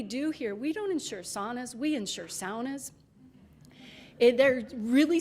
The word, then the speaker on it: sauna: in the use of the word pronunciation sauna. And that, of course, comes from Finnish, but also Western European languages that would pronounce the word like that.